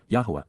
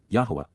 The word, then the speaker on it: Yahowah: For this reason, for thus says ky ko omar indeed this is what is affirmed by Yahwa Yahwa God's one and only name pronounced as guided by his Torah instructions on